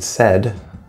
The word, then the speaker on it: said: But as we saw, right, the word said, normally AI would be like I, right? Like the word I. But in this case, it actually is an eh sound.